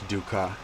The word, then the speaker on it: dukkha: of suffering or duka that's how you pronounce it in English duka you know so so